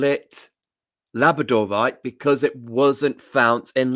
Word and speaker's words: labradorite: So I pronounce it wrong because I say labradorite instead of labradorite. Labradorite is the way of pronouncing it because it came from Labrador, same as the breed of dog.